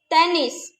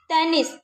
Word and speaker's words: tennis: Fish, fish, autobus, autobus, le tennis, le tennis. Here we are pronouncing the letter S also.